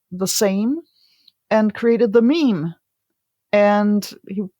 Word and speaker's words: meme: same and created the meme and he it's rather clever that it rhymes with Gene or almost rhymes with